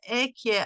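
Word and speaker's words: אהיה: And here it is known the idea ekye asher ekye. Now, the reason why we don't pronounce the hey, because it is one of the holy names that we should not be pronouncing.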